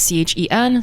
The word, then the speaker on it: Chen: So Chen is Chen. is, not Fie. Okay. As I've realized some people spell it that way for some reason.